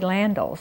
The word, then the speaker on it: Landels: very favorites and Reverend landels is next am I pronouncing his name right is it land or landel well we said landal although I've heard it both ways he was like the